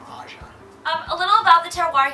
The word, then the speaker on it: AJA: what is the name aja well it's actually pronounced aja aja is an acronym for my three children